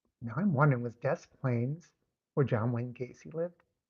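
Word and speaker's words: Des Plaines: And everybody, it is Des Plains. Sometimes people accuse me of saying the name wrong. They're obviously not people from Chicago. It is Desk. Now I'm wondering was Des Plains where John Wayne Casey lived.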